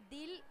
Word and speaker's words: Deal: Mis redes sociales son, con E y con I latina, Dil, que se escribe Deal, D-E-A-L.